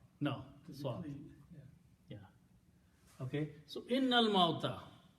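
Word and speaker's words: إِنَّ الْمَوْتَ: When you recite, then you do not pronounce this alif in there. You combine noon with lam. Innal mauta.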